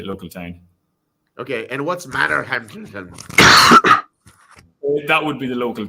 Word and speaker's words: Manorhamilton: Okay, and what's Manorhamilton? That would be the local town. How do you say it properly? Manorhamilton. Oh, just like it looks.